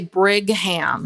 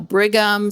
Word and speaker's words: Brigham: And so people would say brigham or bringing them. Yeah. Or they would want to put an n in there. Bring bring and or u m and I would say no. Bighgam spelled like bighgam young.